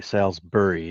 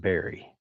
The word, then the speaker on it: Salisbury: pronounce Salsbury crafts well it's bur Sals burry isn't it not Berry I tend to do